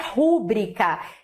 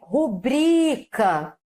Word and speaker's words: rubrica: Recorde, não é rúbrica, é rubrica alteração de sílaba tônica na pronúncia do vocabulário.